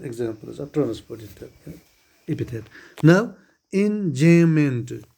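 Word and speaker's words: enjambment: Now enjayment. B is silent here. So in enjayment.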